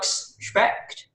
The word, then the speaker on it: Specht: So next up we have, sorry if I get your surname wrong, I'm not sure how to say it, but it's Dr. Specht.